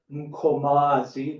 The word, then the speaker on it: Mkomazi: By the way, we say Amkamas, but there are two better pronunciation, Mkomas. And there's also, of course, the proper Mkomazi, which means the place of the great blue female quail in isiZulu.